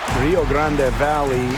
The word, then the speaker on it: Rio Grande Valley: When you bring up Rio Grande Valley, which is the correct pronunciation.